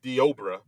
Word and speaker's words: Deobra: Yeah, it looks like it's spelled Deborah, but it's Deobra.